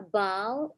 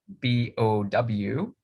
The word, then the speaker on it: bow: it's spelled the same b-o-w but it rhymes with the word low like a bow in your hair right so if we